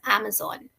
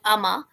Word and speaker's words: Amazon: this world after me so it's Amazon Amazon no not amama Amazon Amazon right okay can you repeat one more time Amazon Amazon not Zan Amazon Amazon okay like there